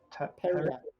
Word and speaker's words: periapt: I didn't know how do you pronounce that? I Periapt. didn't. hurry up. I didn't know that was. Periapt.